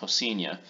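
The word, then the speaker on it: Rocinha: just this first word Rosina in Portuguese that's pronounced senior and this is one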